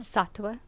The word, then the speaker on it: Sattva: you teach sativa yoga satwa satwa satwa sa t t VA but the V is pronounced as a w of course it is right okay